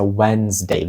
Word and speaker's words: Wednesday: посередині слова знаєте Wednesday а вимовляється wedesday взагалі цьї D не чути і наведемо приклад речення